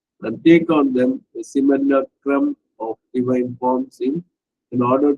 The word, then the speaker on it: simulacrum: light and truth, and take on them a simulacrum of divine forms in order to capture the soul of the seeker.